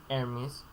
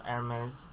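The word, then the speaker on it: Hermès: Hermes. Again, look at the accent mark. It's on the E. So Hermes.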